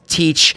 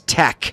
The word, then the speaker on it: Tech: It's Tech. There's no A in there. It's not Teach. It is Tech.